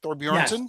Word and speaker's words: Thorbjornsen: Yesterday, Michael Thorbjornsen, is that how you say it? Thorbjornsen?